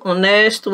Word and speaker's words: honest: eu coloquei aqui: herdeiro, honesto, hora e honra. Grave apenas essas palavrinhas, porque embora eles sejam escritos com H, né, a pronúncia dele, você não pronuncia o H.